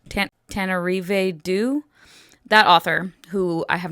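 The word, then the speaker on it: Tananarive Due: I think it might have been Tanarive, excuse me, pronunciation, Tanarive Due, Tanarive Due.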